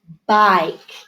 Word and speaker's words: bike: There's that I. B-ike. Bike. And it has silent E on the end to make the I say its name.